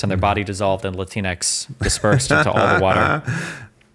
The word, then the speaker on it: Latinx: never use the word latinx never latinx latinx like Kleenex something it's cringe do you think it's pronounced like Kleenex or or Latin X I think it's Latin X Kleenex latinx okay yeah